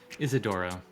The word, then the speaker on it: Isidoro: Isidoro. I don't. Isidoro. In Portuguese, we roll the R, but when we say it, Oh, so like Isidoro?